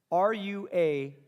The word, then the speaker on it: ruach: The Hebrew word is the word ruach. And then you spell that R-U-A-C-H.